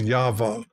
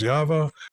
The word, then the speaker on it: Yahweh: The Hebrews have a way they pronounce each of these letters, and I believe it is Yahweh.